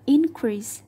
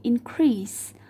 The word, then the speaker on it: increase: Và ta đọc là increase thay vì increase.